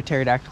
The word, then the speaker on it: pterodactyl: can't you hear a pterodactyl go to the bathroom why because the pee is silent I didn't realize and